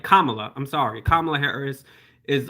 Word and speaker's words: Kamala: He just basically saying that he basically just used a Trump talking point saying Kamala Harris is just a radical left and Amy